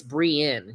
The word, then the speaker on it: Brienne: So when they see that it's cognitively dissonant and it's also just straight up confusing, phonetically speaking, it's Brienne, you know? Like peeing into a toilet, or like Korean, which I'm not, you know?